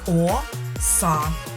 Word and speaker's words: оса: Давайте з вами запитаємо оса іще раз. Оса. Ми тягнемо голосний звук А. Ми це чітко з вами чуємо. Отже, саме цей голосний звук а і є наголошеним, а він знаходиться у другому складі.